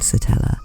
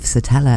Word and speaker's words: Satella: at the end, and the fact it rhymes with Nutella. So some people are named it, but their parents made it up. Either way, thinking of SATELLA as an existing name